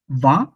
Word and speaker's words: vingt: একটা জিনিস, একটা মানে VINGT, এই ফুলটারে আমি ভা উচ্চারণ করতেছি। আচ্ছা, va। কিন্তু জি এর উচ্চারণ, টি এর উচ্চারণ দুইটাই কিন্তু চেঞ্জ মানে থাকতেছে না। আর আয়ের উচ্চারণ মানে আমরা তো আয়ের উচ্চারণ ই ই করছিলাম, কিন্তু এখানে কিন্তু ওইটাও থাকতেছে না।